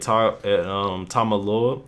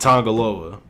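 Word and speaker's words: Tanga Loa: With the winners ended up being my boys Guerrillas of Destiny, Tama Tonga and Tamaloa. Oh shit, I said his name wrong. Tama Tonga and Tongaloa retained the IWGP Tag Team titles while also winning the ROH Tag Team titles.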